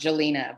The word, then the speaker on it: Jalina: My name is actually pronounced Jalina, but thank you for having me.